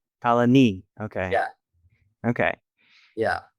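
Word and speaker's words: Colonie: So, you put the emphasis on knee. So, colony. Colony.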